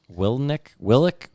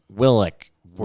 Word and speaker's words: Willink: It's Willink. Willick. Willink. Hold on. 1492. He said Will. What did you say? Willick. No, Willink. you said Willnick, so I just figured that was wrong. It's Willink. It's spelt Willink.